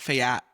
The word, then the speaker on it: Fayette: And I always want to say it's Fayette County, right? No, you call it Fayette. I want to call it Fayette.